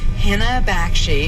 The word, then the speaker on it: Henna Bakshi: And I'm now with Henna Bakshi, who you've seen. Did I pronounce that right?